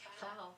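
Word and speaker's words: Pfau: It's pronounced fowl, the German word for peacock, and this is a way to represent the entire crew.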